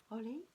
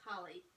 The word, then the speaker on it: Holi: How do you say that? Holi? Hola. Holi? I think it's just Holly.